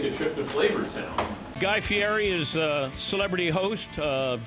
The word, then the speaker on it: Fieri: Fieri. So the way I explain it to everybody is there's a guy named Eddie, and he's got to pay a fee. There's a fee, Eddie.